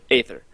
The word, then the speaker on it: Aether: I can I can understand why some people would consider to be pronounced ether ether because of the AE thing from the old ancient Greek yeah yeah but quite